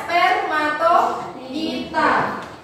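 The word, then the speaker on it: Spermatophyta: nomor satu tumbuhan berdiji bahasa Latinnya yang benar adalah spmatitar ya cara bacanya spermatoita Kemudian untuk teridopita itu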